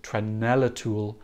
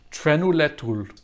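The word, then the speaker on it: Trenulețul: I always say it wrong. Someone always teaches me how to say it, and then I don't say it for a year and I forget. Trenulatul. That's what Google Translate is telling me.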